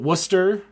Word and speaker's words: Worcester: I'm probably gonna butcher uh saying it but Worcester you did it uh Massachusetts yeah I I'll